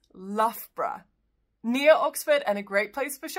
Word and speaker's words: Loughborough: It's just two syllables. It's Loughborough.